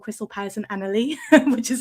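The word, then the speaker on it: Anerley: Party for a place called Crystal Palace and Annalie, which is how it's pronounced.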